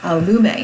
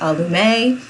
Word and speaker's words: Allume: that means lit-from-within and French and it is pronounced lamay a loom a not album a or a loom it is a loom a